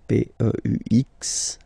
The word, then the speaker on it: peux: P-E-U-X, okay, don't pronounce the final X.